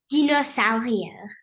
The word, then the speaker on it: Dinosaurier: And I probably pronounced that French, so pronounce it German for me. Dinosaurier.